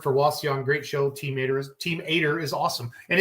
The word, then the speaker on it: Eder: Team Ader is awesome. And it's Joe Ader, everybody. It's not Eder, it's Ader. So I just want everybody to know that. Pronounce it with an A.